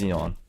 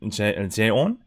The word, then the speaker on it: Xeon: Yeah, it's Xeon. They call the Korean pronunciation is more like Jeon. But yeah, it's Xeon for sure.